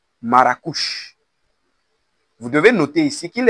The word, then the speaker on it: Marrakech: l'appelaient Madin Maroc maruk Maros la prononciation espagnole du nom de la ville de Marrakech plus précisément maracouche vous devez noter ici